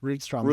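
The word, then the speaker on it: Rydström: Rudstrom is the correct pronunciation.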